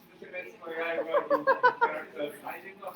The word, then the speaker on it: 鬼滅の刃: That's not Onimetsu no Ha. It's Kimetsu no Yaiba.